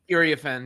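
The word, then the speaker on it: Iriafen: Is that how you pronounce her name? Ariafin, yeah.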